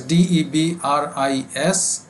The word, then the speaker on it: debris: is called where debris written as d-e-b-r-i-s but pronounced only debris we don't pronounce s and singular plural is